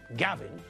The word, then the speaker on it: Gavin: My name, Gavin, has got 2 syllables, ga and vin.